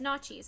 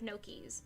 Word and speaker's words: gnocchi: saying and to this day she still says nazis instead of no keys she just insists that it's because she grew